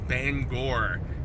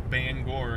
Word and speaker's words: Bangor: Banger M it's Bangor according to this woman that I was talking to at the hotel recently the M the the city in main is bang it's Bangor that's what they all pronounce it as they they are weird